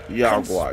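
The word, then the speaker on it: Yaoguai: Yagwai, that's how you say it.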